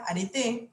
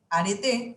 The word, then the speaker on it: areté: a ser leído la areté se estudia así como suena he ido la areté aretes virtud e ido